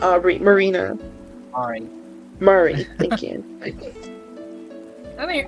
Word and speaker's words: Mari: yeah I mean when when I see m a r i I immediately think oh it's pronounced uh it's pronounced Mari uh she she's about